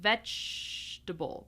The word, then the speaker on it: vegetable: Then vegetable. Vegetable. Notice the G here. I'm actually pronouncing it like a ch like ch vegetable.